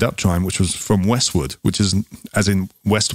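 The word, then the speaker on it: Westward: westwood west ward it's westwood it's pronounced westwood but it's spelt w-a-r-d um yeah not west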